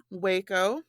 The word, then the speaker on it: Waco: week's episode Ashley's going to be talking about Waco that's how you say it right yes ma'am